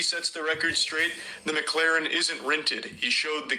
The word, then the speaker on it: McLaren: It's not McLaren. It's McLaren.